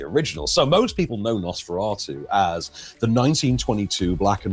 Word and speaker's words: Nosferatu: horror next I believe isn't it it's um Nosferatu is that pronounced right yeah yeah is ex exactly right